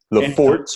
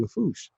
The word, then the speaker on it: Lafourche: It looks like Bayou Lafourche or Right. LaForge or something. Right. Exactly. So I asked my dad, I was real young, and I said, Dad, how do you pronounce that? He said, that's Bayou Lafourche.